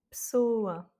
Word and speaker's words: pessoa: Pessoa. Pessoa, il a deux voyelles qui se suivent dans la dernière syllabe, et donc c'est l'avant-dernière voyelle qui prend l'accent tonique. Cavalo.